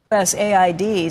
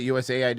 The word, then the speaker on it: USAID: overseas if it's USA us Aid sent an email to workers thank you for at least pronouncing it right you did call it usaid instead of us Aid yesterday usaid cuz it's